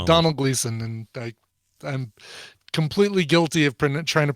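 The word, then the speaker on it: Domhnall Gleeson: a small request please pronounce uh dom hanol gleeson's name correctly is pronounced the same as donal yes so it's donald gleason and i i'm completely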